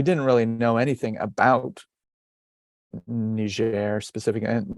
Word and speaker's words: Niger: really know anything about nigeria specific and niger is the french pronunciation which we prefer because it's a french speaking country but so i had